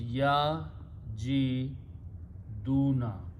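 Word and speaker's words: يجدون: Waw is a weak letter, so we don't pronounce it. So it becomes ya ji duna.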